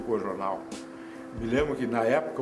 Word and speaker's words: Coojornal: E o Jaguar escreveu uma nota fazendo autoelogio ao Cojornal e terminava dizendo: pena o nome, que muita gente pode pronunciá-lo de forma errada por causa dos dois Os, né? O Cojornal.